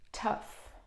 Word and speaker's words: tough: you read this mm-hmm that all-u-g-h is f in this case so this is tough like difficult hard oh